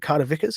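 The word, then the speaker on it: Carter-Vickers: Is it Carter Vickers? Is that right? Yep.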